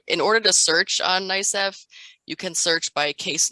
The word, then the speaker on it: NYSCEF: So one of the tips that we want to give you is that not all cases will appear on, we pronounce this as NYSCEF.